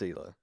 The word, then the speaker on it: Hila: but I only watch it for Gila. It's Hila. Huh? Not Hila. I Hila. always thought it was Gila. No, it's Hila. I don't really know. I don't know him personally. So. The H is silent.